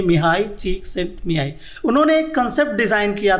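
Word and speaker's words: Mihály Csíkszentmihályi: दोस्तों एक Hungarian American psychologist हैं जिनका नाम है मिहाई चीक्सिंटमिहाई। जी हाँ, जो आप स्क्रीन पे नाम देख रहे हैं उसका प्रोनाउंसिएशन यही है, मिहाई चीक्सिंटमिहाई।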